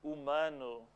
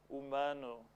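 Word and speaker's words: humano: the english how about umanu umanu in portuguese the h at the beginning of a word has no sound so we say um if you just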